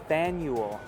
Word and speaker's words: Faneuil: how is it pronounced Faneuil like FanDuel but you remove the D ude just a